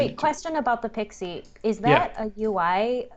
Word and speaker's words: PKCE: Oh, it actually, fun fact, it's Pixie. pronounced Pixie.